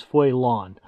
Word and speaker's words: Faolan: name it meant Little Wolf the actual proper pronunciation is Foon but I was pronouncing it foin and that's just the way it's going to